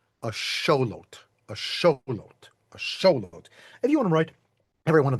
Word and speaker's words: axolotl: It's just that the official fancy pants way of saying this, if you want to get it most original, is something like a show. A showot a lot.